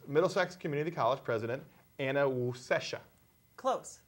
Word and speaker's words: Wasescha: Community College President Anna Wasescha. Close. Wasescha. Oh, I have to let's practice. Wasescha. Wasescha. It's wa. No, Wa. it's not woo, it's wa. Wasescha.